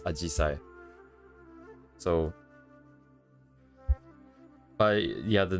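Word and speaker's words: 紫陽花: Hydrangea is pronounced as Ajisai.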